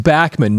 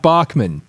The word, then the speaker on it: Bachman: So over the weekend, on September 27th, Randy Bachman, and yes, it is pronounced Bachman, not Bachman.